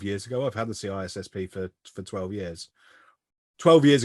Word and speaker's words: CISSP: I mean, I have a CISSP or CISP, or I can't remember how you pronounced it, Desi. We talked about this the other day. CISP, there you go.